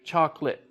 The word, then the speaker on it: chocolate: or something whatever but with english we took it out and so even though you still spell all of those syllables native speakers now say chocolate chocolate or like comfortable comfortable that's how it's spelled but native english speakers we say comfortable and this is like